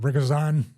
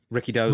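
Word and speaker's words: Rikidozan: What was it, Rikazan? Ricky Dozan. Ricky Dozan. Oh, Philly accent. My God, I just left out syllables now.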